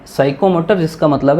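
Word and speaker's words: psycho: साइको में P silent है तो पी साइको मोटर।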